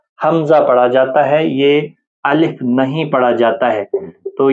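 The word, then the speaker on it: ألف: کرتے ہیں۔ الف الف، الف نہیں پڑھنا ہے، الف الف، خاص خیال رکھیں، الف جو ہے وہ اردو تلفظ ہے، تو آپ پرہیز کریں، مجہول نہ پڑھیں، اردو تلفظ کے ساتھ نہ پڑھیں، بلکہ جو عربی لہجہ ہے اس زبان میں آپ پڑھیں۔ الف، اسی طرح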